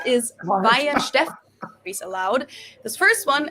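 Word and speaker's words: Weihenstephaner: So the pronunciation is Weinstefana, is allowed.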